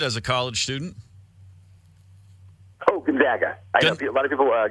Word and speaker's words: Gonzaga: I I everyone goes every broadcaster says one or the other and it is Gonzaga correct yep yeah the ones